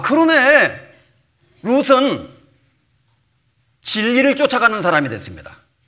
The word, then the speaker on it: 룻: 룻, 롯, 룻 발음이 다르죠. 롯, 오, 룻, 우 방향이 정반대예요.